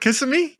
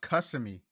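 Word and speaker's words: Kissimmee: plans for the summer it's not pronounced customy it's k-i-s-s-i m kiss me kissing me so damn are you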